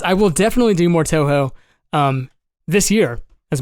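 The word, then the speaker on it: Touhou: the first stream ever I butchered I said towo it's actually too um yes absolutely um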